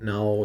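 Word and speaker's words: 円: And it's pronounced N. I don't know why we had to change that one. Why couldn't we have just said that the Japanese currency was N?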